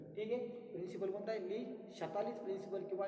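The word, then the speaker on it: Le Chatelier: ली शतालिस, स्पेलिंगसाठी ली चाटेलियर असंही म्हटलं तरी चालेल, कारण शतालिसवरनं ली शतालिस प्रिन्सिपल त्याने चांगला शोध लावला आहे.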